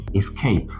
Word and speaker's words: escape: Whether this is a verb or a noun, it is called escape. Always stress on the second syllable.